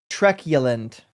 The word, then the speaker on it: truculent: And it's pronounced truculent, according to the dictionary at least.